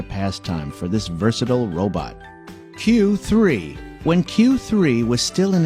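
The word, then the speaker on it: 九: Having gotten its name from the 93 on its jersey, number 9, pronounced Q in Japanese, Q3's predecessors, Q and Q2, were developed to throw free throws too.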